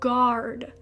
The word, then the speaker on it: guard: La primera palabra es la palabra guard. Aunque en español es guardar, la g u a se pronuncia un poco diferente porque la u casi no suena.